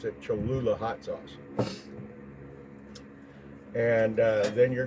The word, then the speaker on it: Cholula: sauce and it's imported from mexico i can't pronounce the name cholula i think it's i think that's how you pronounce it cholula hot sauce and then you're gonna need one